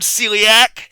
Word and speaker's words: celiac: And the the word celiac has three syllables.